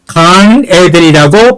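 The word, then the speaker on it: גן עדן: 에덴동산 히브리어를 이거를 에덴 농산을 간에덴이라고 발음합니다.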